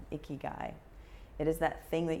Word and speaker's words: ikigai: your reason for being it's called Hickey guy i ki GA I Hickey guy it is that thing